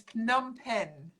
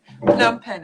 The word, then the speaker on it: Phnom Penh: a very difficult name it's phnom penh with a lot of p's and h's and n's num pen and i probably don't pronounce it traditionally locally khmer but phnom penh is